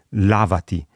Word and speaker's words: làvati: Attenzione all'accento, perché l'imperativo singolare, per esempio di lavarsi, è lavati, mentre il participio passato maschile plurale è lavati, si sono lavati, quindi cambia l'accento, ma anche in questo caso non si segna graficamente.